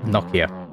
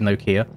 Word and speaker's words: Nokia: it at the start in the UK we pronounce it noia I know in a lot of other countries around the world they pronounce it Nokia however languages exist accents